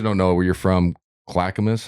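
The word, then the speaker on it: Clackamas: know where you're from Clackamus that's how you say it yeah yeah clackmas it's right outside of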